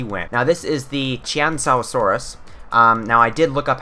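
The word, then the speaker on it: Qianzhousaurus: into it myself, and from my research, it is Chiansaurus. Chiansaurus, that's how you're supposed to pronounce it.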